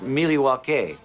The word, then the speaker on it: Milwaukee: Actually, it's pronounced Milwaukee, which is Algonquin for the good land.